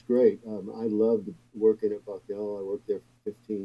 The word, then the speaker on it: Bucknell: see this was at the time at the bucknell university am i pronouncing that right bucknell yes it's in central pennsylvania okay um tell